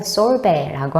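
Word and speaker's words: sorbet: 솔베는 이제 프랑스식으로 T 발음을 하지 않고 솔베라고 하는 것이 특징입니다.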